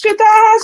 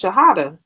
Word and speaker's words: Shahada: Isn't she, Shadaha? She is. That's my sister, one of my big sisters. Oh no, I pronounced her name wrong. Her name is Shahada.